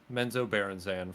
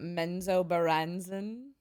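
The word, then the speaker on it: Menzoberranzan: great I love drist it's pronounced menzo Baron xan for God's sakes please not menzo baren yeah uh I love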